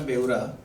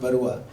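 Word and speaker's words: Beura: In fact मैं एक थोड़ा सा correction, it's Krishna बेउरा नॉट बरुआ. बरुआ लोग असम से होते हैं, मैं उड़ीसा से हूँ. तो बट बेउरा जनरली क्या होता है कि मैं लोगों को जब कोई बेउरा प्रोनाउंस करने जाता तो बेउरा बोलता है, तो मैं उनको अतावस कर देता हूँ. तो इट्स एक्चुअली बेउरा, कृष्णा बेउरा.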